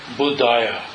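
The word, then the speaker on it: बुद्धाय: But then it's Namo Buddhaya. There's no ha at the end of it, I think.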